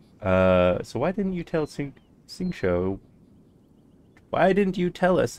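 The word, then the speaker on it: Xingqiu: Xingshou. So why didn't you tell Xingshou?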